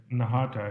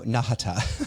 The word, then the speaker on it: Nahata: Yeah, that's perfect. Nahata, yeah. I feel like it's a short right? So Nahata.